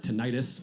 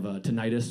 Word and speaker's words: tinnitus: I have an ear issue called tinnitus or tinnitus.